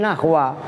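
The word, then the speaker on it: نحو: Awas ya, ini bacanya bukan nahwu tapi nahwa.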